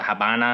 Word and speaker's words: Habana: Havana, it's like, I guess the locals call it Havana.